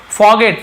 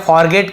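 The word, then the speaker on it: forget: अब आप बोलेंगे सर आर लिखा है फॉरगेट क्यों नहीं पढ़ रहे हैं, तो फॉरगेट लिखा हुआ है लेकिन आर थोड़ा सा साइलेंट है, फॉरगेट ऐसे रहता है।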